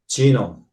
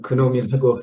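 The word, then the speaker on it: GNoME: 어 구글 딥딥 마인드에서 역시 놈 한국 사람들은 그놈이라고 잘못 읽기도 하는데 놈이라고 읽으면 이런 알고리듬을 개발을 해서 어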